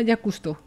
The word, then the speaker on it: Jacques Cousteau: un tipo que investigó al mar se llamaba jacques cousteau vale estaba leyendo mal es que no se escribe así si me lo hubieras escrito bien